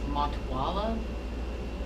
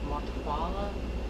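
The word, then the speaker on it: Matehuala: look it up but i think it's pronounced matawala montawala maybe m-a-t-e-h-u-a-l-a and that is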